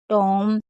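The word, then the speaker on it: tomb: तो देखिए अगर कभी भी आपको एम और बी साथ में दिखे तो हमेशा आपको बी को साइलेंट रखना है। जैसे बॉम, टॉम, कॉम और लैम। एम और बी साथ में होगा तो क्या पढ़ेंगे, हम बी को नहीं पढ़ेंगे।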